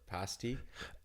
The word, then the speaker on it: pasty: Pasty. That's not far off. That's the Cornish way of saying it, to be fair.